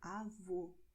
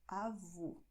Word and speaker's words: avô: And to grandfather, you say avô. The difference is, well, my mouth. So avó, avô. Avó, avô. You see? Open, close.